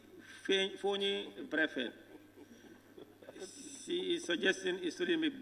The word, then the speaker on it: Brefet: And also, Fonyi Berefet. Berefet is not properly spelled. It's spelled Berefet. Fonyi Berefet is Brefet. B-R-E-F-E-T, not B-E.